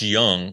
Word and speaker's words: Jung: so we asked him how often does your last name get mispronounced because everybody says Jung even to this day yep even with him being a candidate for American League rookie of the year we still hear Jung every once in a while uh yeah